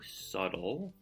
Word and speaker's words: subtle: heard and how about the word subtle though subtle the you even though this is a b t l you you pronounce with like a d subtle the entire crew noticed so what's subtle mean